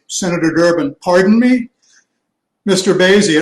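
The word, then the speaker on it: Boese: uh senator durbin mr bose am i pronouncing your name correctly daisy your honor it rhymes with crazy senator durbin pardon me mr baisy it rhymes with crazy and of course there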